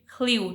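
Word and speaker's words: Llew: अब जो मेन है, मर्द हैं, ठीक है, जेम्स, ये जो नेक्स्ट वर्ड है ये एक वेल्श नेम है, ठीक है, इसको डिफरेंट प्रोनाउंसिएशंस हो सकती हैं। यहाँ पर इसको प्रोनाउंस करेंगे ख्ल्यू, ठीक है।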